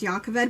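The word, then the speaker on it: Jah Keved: The only other one that's a J that's pronounced with a Y is Jacoved. It's pronounced Jacoved.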